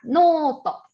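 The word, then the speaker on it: ノート: Cuaderno se pronuncia noto.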